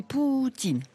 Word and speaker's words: Poutine: Il est d'ailleurs conseillé de prononcer Poutine.